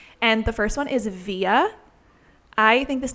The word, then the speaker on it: Via: And with Via, he was really concerned that people would end up saying Vija in English because of the J.